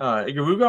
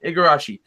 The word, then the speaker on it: Igarashi: Koji Iguruga, or I always Igarashi. mispronounce his name. Igarashi.